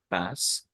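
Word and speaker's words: PaaS: platform as a service we pronounce this as pass and then there is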